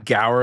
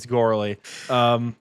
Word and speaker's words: Gorley: He literally said the GOUR is pronounced like pour, not sour.